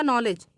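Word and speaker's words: knowledge: है अब अगला देखिएगा नॉलेज यहां पर भी देखिएगा के का उच्चारण नहीं किया जा रहा है इन जगहों पर के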